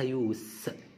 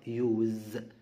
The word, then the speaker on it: use: هنا اسمها يوس لان دي هنا ناون اسم استخدام، انما فعل بتيجي بمعنى يستخدم بننطقها يوز، يبقى the use of modern technology.